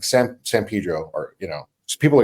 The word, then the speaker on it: San Pedro: When in the city we grew up in, like San Pedro, or so people are like, why don't you say San Pedro? You can pronounce it Pedro, but I'll know you're not from there.